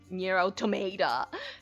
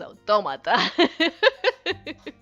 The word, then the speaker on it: Automata: It's how people pronounce nero tomata as like nero tomato. And I'm like, I get it, but no, it's automata.